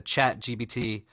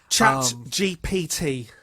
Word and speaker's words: ChatGPT: getting and I think I read that the chat gbt is a chat gbt I think anyway chat GPT oh so good I was hoping I was